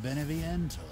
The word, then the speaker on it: Beneviento: a valley of mist the doll maker donna beneviento pronounced it right one of her playmates have ever